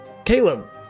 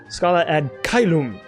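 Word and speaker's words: Scala ad Caelum: Caleb. Loom. Kylum. It's like I've heard it properly and I was saying it wrong. Scala ad Kylum, not Caleb.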